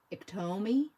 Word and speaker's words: Iktomi: Is it Iktomi? Iktomi? Iktomi? Iktome? There's so many ways to say it. Sounds... Oh my gosh, there's not even a T sound. The T is a D.